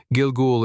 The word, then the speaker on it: Gilgul: Interestingly, Gilgoul is pronounced very similarly to Google in Hebrew.